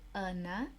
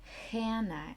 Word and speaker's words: Hannah: In Portuguese we say Ana. In English, we say Hannah, H-A-N-N-A-H. Então, Hannah se escreve do mesmo jeito, de trás para frente e de frente para trás.